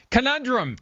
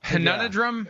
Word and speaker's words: conundrum: Conundrum. Conundrum. You you've used it a few times, but we always accept conundrum. And you didn't add any additional syllables or an a. I don't know where the a would fit.